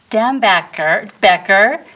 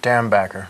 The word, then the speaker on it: Dambacher: So we have director Dambacher, say it for me. Dambacher.